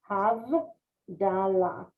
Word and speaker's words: Havdalah: Havdalah.